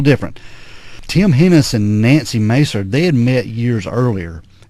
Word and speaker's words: Maeser: This lady, her name is Nancy Maser. Mm-hmm. I guess that's how you pronounce her name. Her last name is spelled Maeser. Pretty close, yeah.